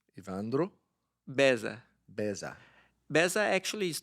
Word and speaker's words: Evandro: I probably too long but ladies and gentlemen ivandro bezza did I pronounce that correctly yes close it is close really close how would you teach Colin to say your name iandra ivandro ivandro bezza bezza bezza actually is not my name